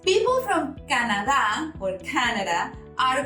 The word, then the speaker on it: Canadá: Canada, same as Mexico or Mexico, we spell it the same, but we pronounce it different. People from Canada or Canada are called canadiense.